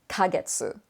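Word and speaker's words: ヶ月: it's got the kaneka you know that it's not katakana ke because it's small and it's pronounced kagetsu and then you may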